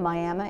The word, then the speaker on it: Miami: I grew up in Miami, Arizona. That's the proper way to pronounce it.